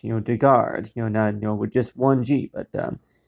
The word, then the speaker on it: Dugard: get one thing straight my last name is pronounced you know to guard you know we're just 1g but but it